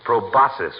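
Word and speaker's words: proboscis: nose doesn't it doctor it's proasus my boy the sea is silent like a husband in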